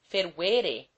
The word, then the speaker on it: fervere: For instance, if it should be asserted that the middle syllable of fervere is short, we can prove this to be an error, because all verbs which in the indicative terminate in eo make the middle syllable of the infinitive long, if that syllable contain an e.